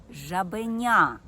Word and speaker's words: жабеня: наголос на цьому складі у слові жабеня я гучніше вимовляю третій склад жабеня наголошені склади у слові